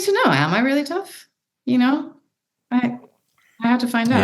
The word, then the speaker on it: Tough: It's pronounced Tooth in Scotland, but yeah, my name is Tough.